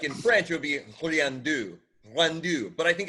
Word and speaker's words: Riendeau: So it's Riendeau. Deau. Like in French, it would be Riendeau.